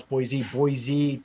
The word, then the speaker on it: Boise: and Atlanta, Charlotte, and in the Mountain West, Boise, just learned how to pronounce Boise down to Phoenix.